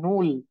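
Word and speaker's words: null: হচ্ছে আমরা জিরো বলি ইংলিশে সেটাকে বলতেছে ধরেন নূল সেম ভাবে দেখেন ওয়ান ওয়ান কে বলতেছে আইন্স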